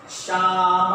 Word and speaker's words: Psalm: बताओ क्या बेटे, PSALM, शाम ऑफ लाइफ, शाम of life, the song of life, the शाम ऑफ लाइफ, द शाम ऑफ लाइफ। ये P भी साइलेंट है और ये L साइलेंट है, ये बार बार हमने बताया था।